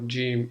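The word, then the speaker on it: جيم: G in English so G for John or Jack okay so let's have a look at how Jim is written in a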